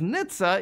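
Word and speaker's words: NHTSA: things may go really south for tesla as nitza is shifting its investigation into tesla's fsd into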